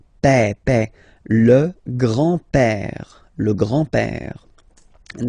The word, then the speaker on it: père: Remember, E accent grave like that. It's this open E. Père.